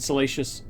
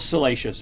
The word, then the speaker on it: siliceous: asteroids for metals and siliceous, I think, materials, and cometary bodies for water, ice, and organics. Quarian miners are adept at locating... Not salacious, by the way. That was absolutely mispronunciation.